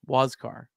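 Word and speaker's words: Huascar: think like I might not want the full pronunciation guy it says what wasar wascar um he's having a great year for the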